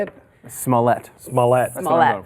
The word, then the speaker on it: Smollett: Smollett. Smollett. That's what I'm going for. He never mispronounces last names.